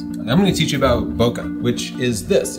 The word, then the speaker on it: bokeh: provided the pronunciation guide, bo, which is easy to say, and ke, as in Kenneth.